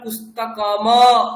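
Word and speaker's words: पुस्तकम्: উচ্চারণ করছি দারপণাহ আর এখানে পুস্তকম মকারটার পরে কিন্তু আমরা পুস্তকমা বলছি না পুস্তকম বলছি তাহলে এইটা হচ্ছে উচ্চারণের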